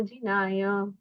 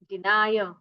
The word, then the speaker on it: जिनाय: रूपाय दिगंबराय देवाधिदेवाय नमो जिनाय। चिदानंदैक, दई न कि दे, चिदानंदैक। आप में से कई लोगों ने चिदानंदेक रूपाय ऐसा कहा है, लेकिन चिदानंदैक रूपाय जिनाय, अभी जीनाय ऐसा नहीं कहना है।